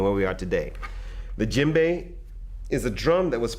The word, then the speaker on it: djembe: have a look at the djembe now the djembe is spelled d je e m b e this